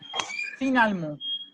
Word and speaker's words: finalement: après, finalement, Finalement. Finalement. finalement. Finalement. Finalement. OK. Et la lettre E, la lettre E au milieu ne se prononce pas, OK?